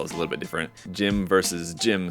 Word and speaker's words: GM: it including in Japan I think most people call it gym that's how it's spelled actually out in Katakana so that's what I've